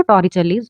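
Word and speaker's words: Torricelli: और अगर हम इटालियन प्रोनाउंसिएशन देखें तो टॉरिचेलीज ऐसे बोलते हैं, पर हम तो टॉरिस-लीज लॉ ही बोलेंगे।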